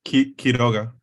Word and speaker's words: Quiroga: Yes, Okay, it's Quiroga. Quiroga. Okay, Yeah. got it. You have 5 minutes when you're ready. All right. Hello, everyone. I'm Quiroga.